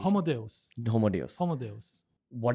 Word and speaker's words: Homo Deus: What's the correct pronunciation? Homo Deus.